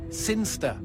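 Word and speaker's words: Cirencester: the boring town of siner sester sinster what it's pronounced sinster how do you know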